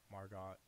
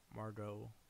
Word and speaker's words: Margot: to get a bad performance out of him Margaret Margaret I hate that i'm pronouncing your name wrong a couple days ago i was able to pronounce it fine margot robbie is how that Margo I don't know